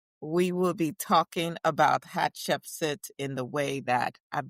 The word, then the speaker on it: Hatshepsut: Okay, that said, how do you pronounce her name, by the way? Hatchepsit.